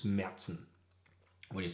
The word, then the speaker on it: Märzen: a umlaut is and kind of pronounced like the danish a so it's merzen what do you say